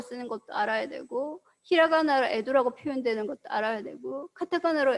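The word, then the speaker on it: 江戸: 자, 우리가 알고 있는 이 에도라는 것도 사실은 한자로 강호라고 쓰고 일본어로 에도라고 읽는다라는 거죠.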